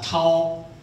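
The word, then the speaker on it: 桃: 타오. 근데 도망간다는 것도 타오라고 읽습니다.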